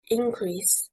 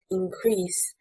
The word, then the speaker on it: increase: For example, we have stressing on the first syllable, increase, meaning growth and is a noun. Stressing on the second syllable, increase, meaning greater in size and is a verb.